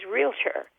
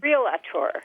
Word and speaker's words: realtor: mispronounce, and that is realtor. Everybody says realtor. Yeah, you want a vowel between the L and the T, don't you?